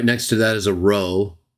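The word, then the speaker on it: rho: to that is a row it actually looks like an English P but it's a Greek R sounding word or letter and then after that is the letter Omega so Pi row Omega to that's T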